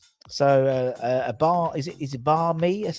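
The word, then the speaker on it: bánh mì: So a bar is it bar me? That's how you pronounce it.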